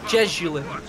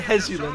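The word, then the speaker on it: Jesulín: I used to say Jesulin. No, Hezulin is what you used to say. Then I started saying Hezulin, like the correct Spanish pronunciation.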